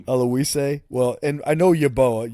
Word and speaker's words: Oluwaseyi: How do you pronounce his name? Yeah, I know. It's Oluwaseyi. Oluwaseyi.